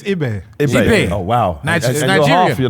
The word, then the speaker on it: Ibe: Jordan I um is it pronounced I or IB? It's IB.